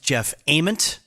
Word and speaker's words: Jeff Ament: and my own ego it is pronounced jeff ament that's pearl jam mother